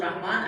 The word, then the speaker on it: رحمان: رسم الخط نہیں ہے، حالانکہ تلفظ رحمان الف کے ساتھ ہی ہوتا ہے اور قرآن